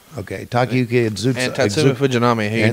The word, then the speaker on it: Takayuki Iizuka: Takayuki Iizuka. Okay, Takayuki Iizuka.